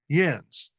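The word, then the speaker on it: Jens: The J has a Y sound in German.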